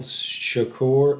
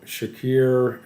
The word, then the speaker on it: Shakir: the hobby uh Khalil Shakir and my apologies on the pronunciation um I believe Shakir is correct uh he so he